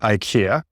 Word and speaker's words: IKEA: Ikea and uh yeah in Singapore we see Ika not Ikea and I just checked the Swedish way of pronouncing Ika is Ikea and it is an Ikea